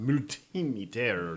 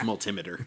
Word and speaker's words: multimeter: multimeter like called it mutinter or something like that. I believe it's multimeter. Multimeter. Yeah, like an altimeter.